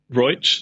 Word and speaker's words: Roig: He trained under Francis Roig, I think it's pronounced. Is that right, Harry? Roig, yeah. The Spanish or the Catalan way.